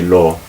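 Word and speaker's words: לא: say look you just you say the sound and any cut off the air at the end of it law just suddenly cut off the air right at the bottom of your throat and so that's probably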